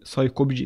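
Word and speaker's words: psycopg: فنستخدم مكتبة اسمها BSY كوبج، تنطق تقريبا يعني ساي كوبج 2، ونستخدم فيرجن 2.7.5.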